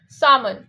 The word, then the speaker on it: salmon: So people say salmon because there is an L in it, but we have to make that L sound silent. And we say salmon, salmon fish.